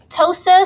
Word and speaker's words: ptosis: CRO phobia all right Tosa so this is where we have that in this case silent p in front of the word ptosis this is a prolapse